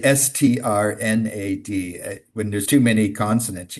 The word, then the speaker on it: Strnad: you say strnad? When there's too many consonants, you can't Strnad.